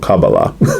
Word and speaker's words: Kabbalah: It's kind of based on the I always pronounced it Kabbalah, but when I was studying it a little bit toward a couple months ago, Kabbalists call it Kabbalah.